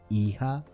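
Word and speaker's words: hija: you say daughter in spanish if you said iha you are right remember that it's the same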